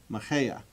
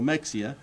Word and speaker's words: Mexía: cities in Texas because nobody knows how to pronounce the name Mexia or it it is Maha it's Maha it's not you know Mexia um but this guy